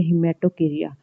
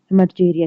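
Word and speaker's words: hematochezia: फिर ये हिमेटोकेरिया, हिमेटोचेरिया, इसको भी डिफरेंट प्रोनाउंसिएशन है इसकी।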